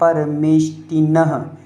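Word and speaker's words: परमेष्ठिनः: पंचैते परमेष्टिनः, यह नहा नहीं बोलना है, नह, हा का उच्चारण आए और आराम से आए।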